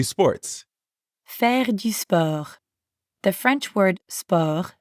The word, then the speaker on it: sport: fergus the french word spur sounds super similar to the english word sport but we don't pronounce the t at the end and we use that french e sound again let's try practicing repeat